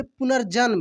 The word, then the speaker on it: पुनर्जन्म: लोग पढ़ेंगे पुनर जे आधा एन और ऐसे पुनर्जन में उसके बाद यहां पे आप देखेंगे लिखा